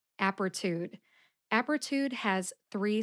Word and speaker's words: Apretude: let's go I'll start with the brand name apertude apertude has three syllables aptitude aptitude the first syllable app gets